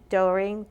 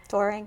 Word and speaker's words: Doehring: And so reach out to on Facebook at MC Doehring. I'm saying it wrong. Doehring. Doehring. It's okay. Because it says D-O-E, so you'll remember like Doehring.